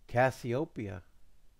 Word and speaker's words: Cassiopeia: That's beautiful, but you mispronounced your name still. Cassiopeia.